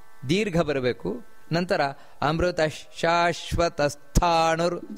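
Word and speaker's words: ಸ್ಥಾಣುರ್: ಬರಬೇಕು ನಂತರ ಅಮೃತ ಶಾಶ್ವತ ಸ್ಥಾನುರ್ ಸ್ಥಾ ಮಹಾಪ್ರಾಣ ಇದೆ ಸ್ಥಾನುರ್ ವರಾರೋಹೋ ಮಹಾತಪಾಹ ಅಲ್ಲಿ ಕೂಡ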